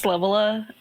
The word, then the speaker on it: Lavella: People pronounce Lavella. Yeah, that's how like novella.